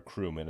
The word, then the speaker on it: cerumen: And as we look at this cerumen or crumen, as it's sometimes pronounced as, it's going to be